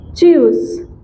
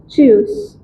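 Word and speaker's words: tschüss: We say choose, T S C H U umlaut, choose। क्या बोलते हैं हम? choose। T is silent here and the remaining pronunciation is choose, choose।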